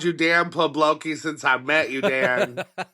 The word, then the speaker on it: Poblocki: Yeah, you pronounced. said you were going to, but... Yeah, pretty much. Poblocki. Yeah, Dan Poblocki.